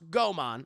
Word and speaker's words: Goemon: Pronounced Goemon.